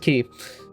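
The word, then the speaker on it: χ: Last thing in here is Kingdom Hearts key back cover, which I hate that little X is pronounced key.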